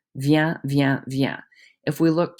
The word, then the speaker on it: vient: Because there's no vowel after those consonants on the singular side, you do not pronounce them. They all sound exactly the same. Vient, vient, vient.